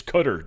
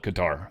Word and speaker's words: Qatar: Now, I want to say for all you guys that are going to try to correct me, it's Qatar, Dan. Trump calls it Qatar.